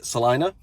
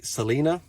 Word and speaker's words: Celina: the city is uh celina so c-e-l-i-n-a a lot of people say selena that's a no bueno uh no so you